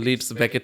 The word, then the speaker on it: Leeds Beckett: লিডস বেকেট ইজ the name, যেটা হয় সবাই বাংলাদেশে যেটা হয় দে pronounce it অ্যাট লিডস বাকেট, লিডস ব্র্যাকেট।